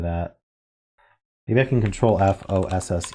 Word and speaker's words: fosse: that mean a detrimote it's just pronounced Foss okay okay cool well